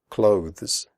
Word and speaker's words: clothes: not comfortable comfortable clothes the final sound is a the followed by an S clothes if this is difficult